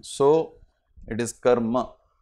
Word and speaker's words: karma: So it is karma. The ma is full. It's not karm.